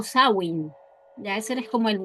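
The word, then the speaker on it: Samhain: Lo vamos a dejar aquí escrito para que sepan, pero en realidad se pronuncia sen o sawin.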